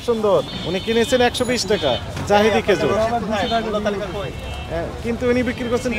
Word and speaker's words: জাহিদি: জাহিদি লেখা নাই, কিন্তু জিহাদি। জিহাদি না, উচ্চারণ হবে জাহিদি। জিহাদি না, জাহিদি হবে।